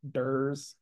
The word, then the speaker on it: DERs: distributed energy resources or some people just pronounce the acronym dur so so dur basically